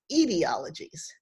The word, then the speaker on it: etiologies: some errata for you i keep saying etiologies but this word which means an origin story should be pronounced ideologies the problem is i